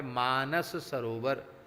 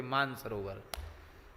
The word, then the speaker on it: मानस सरोवर: गया, जिसका नाम है मानस सरोवर। अब आजकल लोग मानस सरोवर में सा कहो तो लोग उच्चारण ही नहीं करते, सीधे कह देते मान सरोवर। भैया मान सरोवर नहीं है, मान सरोवर तो हमारे ब्रज में है।